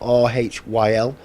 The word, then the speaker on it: Rhyl: North Wales, place called Rhyl, and it's spelled R-H-Y-L. Welsh people call it Rhyl. You've got to roll yours.